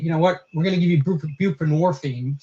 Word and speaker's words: buprenorphine: We say, we're going to give you buprenorphine, Suboxone, which rhymes with morphine, and it's basically a narcotic, or methadone, which is a narcotic, and we're going to give you those things.